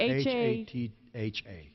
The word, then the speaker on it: Hatha: How do you spell that? What is it? H-A-T-H-A.